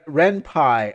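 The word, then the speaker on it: Ren'Py: You pronounced it this you you pronounced it the same as senpai. That's what Okay. Here. Oh. Oh. Renpai.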